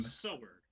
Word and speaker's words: Sower: It's not spelled how you think. It's called Soweer. Um, it's by Ivan Grauer. I So presume, sower.